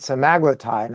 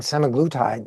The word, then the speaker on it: semaglutide: Uh I notice you pronounce it simaglletide. I've been saying semiglutide. Uh which is the correct one or are both pronunciations correct? I think both pronunciations are are correct.